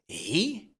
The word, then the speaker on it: he: Dans un premier temps, nous avons he. Le H est très important ici. On dit pas he mais he OK ?